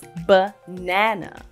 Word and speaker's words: banana: For example, the word banana has 2 schwa sounds. The first and the last A both make the schwa sound. This is because the nan part of the word is the stressed syllable. So the stressed syllable is said louder or with more emphasis than the other syllables.